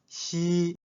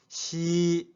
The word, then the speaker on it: 夕: Repeat after me. Xi, Xi.